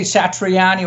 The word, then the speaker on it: Satriani: So we always pronounce it the way it's written. So of course you say Satriani or Sach or Steve V or Darzio or the or the whatever.